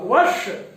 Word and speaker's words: वर्ष: तो यहां पर जब हम उच्चारण करेंगे तो आप देखेंगे कि जो जिह्वा नोक है वो थोड़ी पलट करके हमारी मूर्धा को स्पर्श करे और वायु दोनों पार्श्व से बाहर निकल जाए, तब इसका उच्चारण होगा वर्ष।